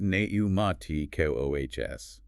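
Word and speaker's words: πνευματικός: The pneuma, pronounced neumati-kohs.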